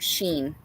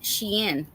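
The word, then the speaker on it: Shein: Oh, and then um I I had to call my other daughter cuz uh I was like for anybody who knows about Sheen.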